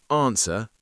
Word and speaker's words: answer: Okay, here are the silent letters. answer.